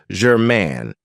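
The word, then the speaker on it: germane: for you is German now this has two syllables and the stress is on the second syllable German it means that something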